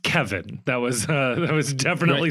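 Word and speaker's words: Kévin: that Kevin is pronounced Kevin that was that was definitely something that they clarified it's written with an accent of course but it's pronounced Kevin there aren't a whole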